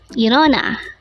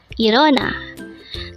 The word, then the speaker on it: 일어나: IREONA. IREONA. This is pronounced as a three-syllable word. The first syllable is is, second syllable is o, and the third syllable is na.